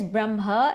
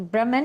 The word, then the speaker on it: Brahma: So there's Brahma and there's Brahma. Brahma with, a short A is that Brahman, imperishable Brahman. Brahma is the creator, the one with the long A.